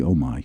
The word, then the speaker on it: Omi: talk about Oh me and in pronouncing that right Oh me it's actually oh my oh my good thing